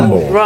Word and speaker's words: Rumble: Pronunciei certo? Rumble, certo? Rumble.